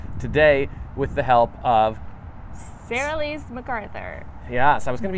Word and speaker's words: Sera-Lys McArthur: So Sera-Lys McArthur.